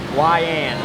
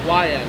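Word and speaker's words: Weiand: That's probably correct pronunciation. yeah. So it's say YN. YN.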